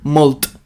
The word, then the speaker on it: molt: La T de molt, la T final, no es pronuncia. Vale? És que hi ha una profe que diu molt.